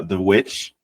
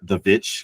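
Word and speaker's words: The VVitch: picked it before uh the witch or the vitch however you want to pronounce it um I'm only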